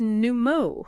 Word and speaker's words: Numo: It's pronounced Numo. Numo, got it.